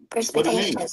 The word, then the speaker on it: perspicacious: Let me say perspicacious. Perspicacious. No, perspicacious. Perspicacious. It means having a ready insight into an understanding of things. Perspicacious. Perspicacious. Like perspire, cacious.